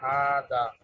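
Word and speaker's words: هذا: আমরা একটা নোট করেছি, নাম্বার 1, হাজা, হাজা is pronounced হাদা, but it is written without the first alif.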